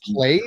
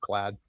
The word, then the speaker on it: plaid: jackets or whatever yeah some people say play I guess but I think I think it's pronounced plaid okay yeah some jot